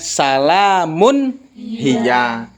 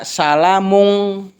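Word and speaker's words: سَلَامٌ هِيَ: Dibacanya salamun hiya. Jadi jangan dibaca salamung, dibacanya salamun hiya.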